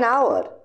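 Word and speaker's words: hour: অ্যান আওয়ার, এখানে আওয়ার শব্দটি এইচ দিয়ে শুরু হয়েছে কিন্তু এইচ উচ্চারিত হয় না, তাই এটি আওয়ারের মতো শোনায়, ভাওয়েল সাউন্ড, তাই আমরা বলবো অ্যান আওয়ার।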